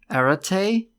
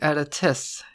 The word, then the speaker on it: Aratess: "Arate?" "Yes, well, more correctly Aratess. It's Gallican for halt. My pronunciation has never been good."